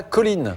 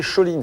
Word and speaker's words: choline: Et il y a aussi de la choline. La Ne choline, pas prononcer choline, c'est H-O-L-I-N-E, non, c'est choline.